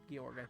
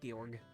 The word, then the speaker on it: Georg: George is a duck gor actually I think his name is pronounced gorg we'll talk about the